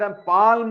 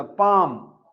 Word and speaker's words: palm: Pronunciation of words ಅಲ್ಲಿ PALM ಇಂದ ಪಾಲ್ಮ್ ಅಂತ ಹೇಳುದಲ್ಲ, ಪಾಮ್ ಸೈಲೆಂಟ್, ಎಲ್ಲಿ ಸೈಲೆಂಟ್ ಓದಿದೆ.